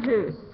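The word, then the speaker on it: Hus: Which rhymes with? Goose. Goose. John Hoos.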